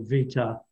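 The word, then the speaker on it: βήτα: And so what I could probably help you out a little bit there, Danny, because in Greek, what we pronounce as B is actually pronounced V. Yep. Alpha, Vita.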